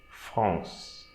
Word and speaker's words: France: So, the first line, so here we are not going to pronounce the E. So we don't say France, we'll say France. So we pronounce the consonant before the E. France.